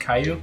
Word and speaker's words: Caillou: It's pronounced Caillou.